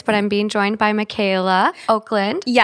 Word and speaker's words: Michaela Okland: You may have recognize her voice, but I'm being joined by Michaela Oakland. Yes, that's how it's pronounced. It's spelled weird. It's Michaela Oakland.